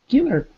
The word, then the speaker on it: killer: Killer, killer. Killer, killer. Killer. Good, not keeler, right?